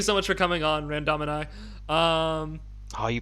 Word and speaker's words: Randomini: Okay, well, thank you so much for coming on, Randomini. You pronounced it correctly.